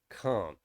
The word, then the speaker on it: can't: easily identify that it's meant to be can't not can so it's can't can't but if it's at the end of the sentence it will be pronounced properly so it'll be pronounced can't so no i can't